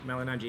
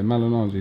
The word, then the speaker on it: Malignaggi: And just finally, do you pronounce the G in your name? Is it silent? Malignaggi, yeah. The first G is silent, yeah. Yeah, Malignaggi. Because like when I hear Richard Schaefer mention names, like Malignaggi, so Malignaggi. I wasn't sure. In Italian, it's actually GN is Gna, so it's Malignaggi, but